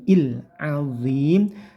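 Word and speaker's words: العظيم: Ini yang biasanya sering salah dibaca miring ke e, tidak ya, tapi il azim. Lah, lamnya jangan sampai il. Enggak pakai le tapi il saja.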